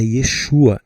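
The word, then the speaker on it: ישוע: Então, mas eh pelo que eu pesquisei, pessoal, a pronúncia correta do nome é Yesua, em hebraico, né?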